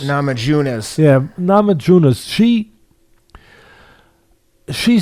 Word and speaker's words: Namajunas: nama james navajo uh janus uh am i pronouncing that right nama junos namajunas yeah nama junas she she set it up